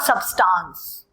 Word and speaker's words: substance: Material जिस सब्सटेंस नहीं होता please, it इज नॉट सबस्टांस, इट इज नॉट सबस्टांस, इट्स substance, not substance.